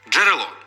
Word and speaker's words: джерело: один чи два звуки джерело тут Дж передається лише одним звуком Дж тому що д ж